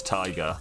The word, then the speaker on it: taiga: Cold Taiga mostly. So I read it as Taiga. I've been told to pronounce it as Tiger. I don't know which one to go with here.